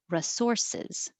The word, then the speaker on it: resources: So you can say resources with an E and that emphasized, or you'll hear people say resources, resources. Either way is fine.